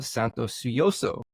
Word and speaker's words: Santosuosso: guest Santos suo is that how you say it you're close oh man you know so close do it for me say it for me is swo swo okay s it's fonetic but it's like it's 11 letters I get looking at